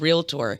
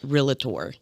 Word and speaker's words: realtor: us is how to properly say the word realtor real because when we um when we get